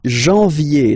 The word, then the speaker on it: janvier: But anyway, janvier, so that's the way to pronounce it. Janvier, A-N, en, okay? And then, ye, janvier. Then comes février, février.